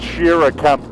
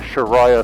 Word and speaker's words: Shira Camp: It's pronounced Shira Camp, by the way. I don't know where I got the Sharia thing from, but yeah, I